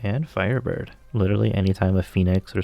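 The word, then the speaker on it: FIRE BIRD: How do you say it? Is it Firebird? No, Firebird. Firebird! Okay, thought so.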